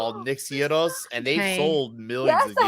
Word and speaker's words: gyros: Is it Gyro or Giro or Hero? Gyros.